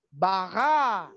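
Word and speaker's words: ברא: Lalu di sebelahnya ada bara, itu. Vet, resh, alef. Jadi A-nya panjang. Bara.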